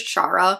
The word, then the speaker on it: Shara: wheeler by casey mcquisten i am so sorry for calling it sarah wheeler for so long it is chara i listened to the